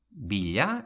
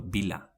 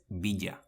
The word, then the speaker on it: bila: o mailu, never mayu bila: Billa or bila, never biya Gerrilla: Gerrilla always say,